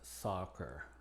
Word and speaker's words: soccer: vemos aquí acepta accidente una excepción es esta palabra que se pronuncia soccer otras consideraciones para la